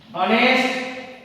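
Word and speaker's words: honest: এরপর আমরা আরেকটা উদাহরণ বুঝবো, এইচ আছে কিন্তু এইচ এর উচ্চারণটা সাইলেন্ট, দ্যাট ইজ আন্ডারস্টুড, তাহলে এই ক্ষেত্রে তোমাদের অ্যান বলবে। যেমন হিজ অ্যান অনেস্ট ম্যান, সে একজন সৎ লোক।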